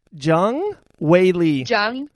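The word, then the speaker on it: Zhang Weili: Jung Wei Lee.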